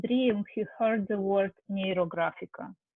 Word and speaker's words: Neurographica: This is the story, so and in his dream, he heard the word Neurographica. So I pronounce it as it is in Russia because it's a two Latin roots.